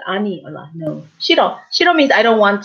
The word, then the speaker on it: 싫어: 싫어. So you see the 히읗. So when an 이응 follows, you don't pronounce 흐, right?